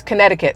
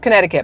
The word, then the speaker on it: Connecticut: for some reason we know it's Connecticut there's a c in there but nobody says it it's just Connecticut but is little it's Connecticut which sounds really dumb if you say it the way it's spelled now cities like Stamford